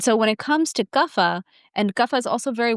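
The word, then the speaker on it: Kapha: And then the third constitution is called Guffa. Here in the west we pronounce it kafa.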